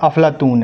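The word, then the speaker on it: Aflatun: में बात करें तो अरबी भाषा में इसका उच्चारण अफलातून है प्लेटो का ठीक है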